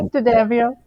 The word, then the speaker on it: D'Addamio: And I'm thrilled to have Gina D'Addamio. D'Addamio. Yes, I did. Did I say it right? There we go. Yeah, D'Addamio.